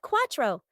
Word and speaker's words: cuatro: For the number 4 in Spanish is called cuatro.